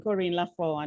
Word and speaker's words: Corine La Font: everybody loves my name corrine lafone when a french pronounces it it sounds so beautiful and it is such